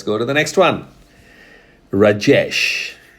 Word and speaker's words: Rajesh: Rajesh. That's how most of the Westerners use. In India, we use Rajesh.